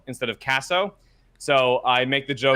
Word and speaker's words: Caso: It's because people mispronounce my last name Caso instead of Caso.